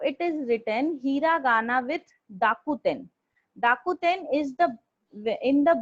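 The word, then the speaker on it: 濁点: This is known as dakuten, or you Okay. can say dakten.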